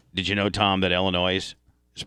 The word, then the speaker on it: Illinois: you know tom that illinois is pronounced illinois it's not plural it's singular it's a french derivative did you know that